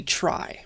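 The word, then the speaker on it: trie: we say huffman tree but it's really a try pronounced try for no good reason and let's let's talk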